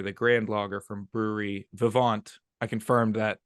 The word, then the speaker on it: Vivant: grand blogger from Brewery Vivant I confirmed that pronunciation oh you did it's Vivant all right Vivant yes throw in that little French definitely has a little bit of a French vowel at action there yeah yeah